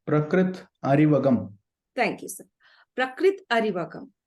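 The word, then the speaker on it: Prakrith Arivagam: more such that I could repeat it it's prakrit aragam thank you sir prakrit aragam dear friends and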